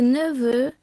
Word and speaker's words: neveux: So, for example, un gâteau, a cake, des gâteaux, cakes, un neveu, a nephew, des neveux, nephews. Notice that the X which forms the plural is silent.